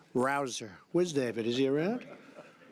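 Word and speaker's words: Rouzer: job David Rosa hey you know how you pronounce it rabble rouser you go David rouser where's David is he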